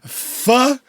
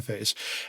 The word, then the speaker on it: PHA: Beyond that, they have the Vox and Go Pha. I'm going to pronounce that Pha, even though it's PHA 979.